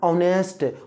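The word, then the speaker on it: honest: ट्राई to pronunciation Hindi में भी तो आपको उच्चारण करना चाहिए तो बोलिए है ना ऑनेस्ट नेस्ट की ऑनेस्ट ऑनेस्ट ओ तो एन ऑनेस्ट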